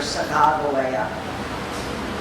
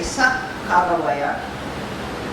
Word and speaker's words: Sacagawea: The only thing now is that the Mandans and the Shosonyi still don't agree on how to pronounce her name. You're more apt from the Mandan villages and Masa to hear Saga. The Shosonies will sometimes say Sakoa.